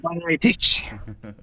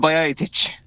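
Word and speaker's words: Bajčetić: Stefan Bajatic. Say it again. Yes, Stefan Bajatic. Oh, lovely pronunciation there.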